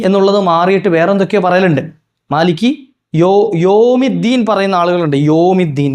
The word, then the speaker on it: مَالِكِ يَوْمِ الدِّينِ: ചെയ്യാ ഒന്ന് മിങ്കിൾ ചെയ്തിട്ട് മാലിക് യൗമിദ്ദീൻ അത് പറ്റൂല്ല മാലിക്കിയ മാലിക്കിയ അല്ല എന്താണ് മാലിക്കി യൗമ് എന്നാണ് അപ്പോ മാലിക്കി യൗമിദ്ദീൻ വേറെയാണ് യ വരണം യ എവിടാ